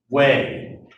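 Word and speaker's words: Huế: The biggest battle is over the old imperial capital, Hue. And again, because of the way Vietnamese is pronounced, this is how it's spelled. It's pronounced like W-A-Y.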